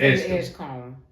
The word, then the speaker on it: Edgecombe: It's pronounced Edgecombe.